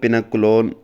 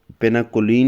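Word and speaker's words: pinacolone: है एक्सप्लेन पेना कोल पेना कोलोन पेना कोलीन नहीं है पेना कोलोन है रिअरेंजमेंट स्पेलिंग ठीक कर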